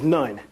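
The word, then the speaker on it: نون: And as you know, Noon is actually, within our language, will be pronounced as nun.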